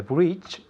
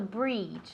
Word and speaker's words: bridge: The bridge, The bridge, not the breach. The bridge. Es una I corta.